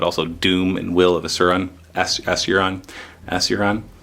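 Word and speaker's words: Asuryan: Doom and Will of Asuran. Asuran? How do you say that? Asurian. Okay, that sounds better than what I was saying.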